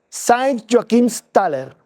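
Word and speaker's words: Joachimsthal: Pues bien, ahí se cuenta el Valle de San Joaquín y el Valle de San Joaquín, el alemán se se pronuncia Saint Joakims Taller.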